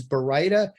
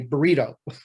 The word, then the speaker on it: Baryta: So the correct pronunciation is Baryta.